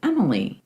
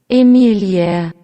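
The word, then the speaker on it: Emilie: If I saw it in English, I would pronounce it Emily. Well, let's listen to what it sounds like in German. Emelia.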